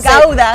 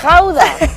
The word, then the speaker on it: Gouda: Oh, the Gouda. We say Gouda. Gouda. You say it so beautifully. How do you say it in the Dutch? It's Dutch is Gouda. Gouda.